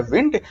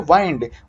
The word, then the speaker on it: wind: ध्यान रखिएगा बेटा यदि WIND को नाउन के रूप में बोले तो वो होता है विंड, और विंड का मतलब होता है हवा, लेकिन WIND को वर्ब के रूप में बोला जाए तो इसका उच्चारण होता है वाइंड।